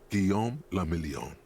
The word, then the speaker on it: Guillaume Lamillion: meant only one thing guillaume lamillion if it doesn't rhyme you're not pronouncing it right oh out of the